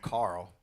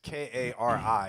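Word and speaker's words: Kári: He called him Carl. Never mind. Is that? Who's Carl? His name is it's Kari. It just has an accent on the top of the I.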